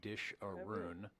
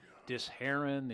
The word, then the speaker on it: Disheroon: attentive because you know how they get some of these pronunciations out of what is phonetically disharoon. you know, disharon, you know, they're trying to make me Middle Eastern. They throw a little bit of Lebanese into that.